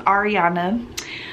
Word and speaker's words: Arianna: that do not know my name is ariana like grande pronounced like grande but spelt with another n i am 25 years